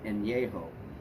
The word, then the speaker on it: Añejo: A-N with a squiggle on top, E-J-O. Pronounced Añejo. Very much like certain tequilas are pronounced Añejo.